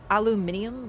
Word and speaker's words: aluminium: just too used to aluminum. Really though, it is supposed to be aluminium, but like North America, I think Americans just took a syllable out of it.